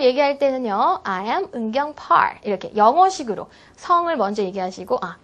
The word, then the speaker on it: Park: 강세가 본인의 이름보다는 성 부분에 좀 들어갈 수 있도록 따라서 I am 은경 Park 이게 아니라 I am 은경 Park 이렇게 박도 영어식으로 Park 이렇게 발음하시는 게 좋겠습니다.